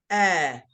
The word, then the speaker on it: heir: a word here called air yes so we pronounce it like the air we breathe but it's written differently and this one means